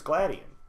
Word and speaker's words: Gladion: character he's dubbed in English already and it's gladion it's actually no yeah it's gladion yeah that's that's how it's pronounced I was gonna say I felt like